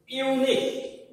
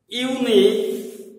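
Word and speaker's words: unique: এইবার দেখো চার নম্বর বাক্যটিতে খেয়াল করো, এটাও তোমরা দেখো এখানে একটি শব্দ আছে ইউনিক, ইউনিক উচ্চারণটি ইউটি দেখো ইউ এর মতোই হচ্ছে, অতএব শিক্ষার্থী এখানে উত্তরটি কি হবে আর বলার অপেক্ষা রাখে না।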